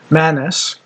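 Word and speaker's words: Manus: Manis, which is 1 N M U S.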